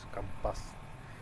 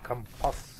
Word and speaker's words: компас: Компас. Правильно говорить компас, я точно знаю. Это неграмотные люди говорят компас.